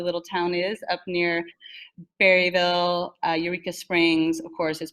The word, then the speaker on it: Berryville: where that lovely little town is up near berryville eureka springs of course is pronounced burble and yorkie springs harrison in that area and